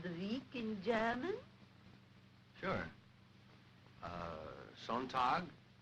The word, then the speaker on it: Sonntag: Sonntag, Montag, Dienstag, Mittwoch, That is good. But pronounce the words broader, so Sonntag, Montag, Dienstag, yes?